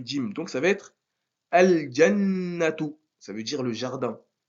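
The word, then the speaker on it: الجنة: Donc ça va être al-jannatu. Ça veut dire le jardin. Al-jannatu. On prononce le lam. Al-jannatu.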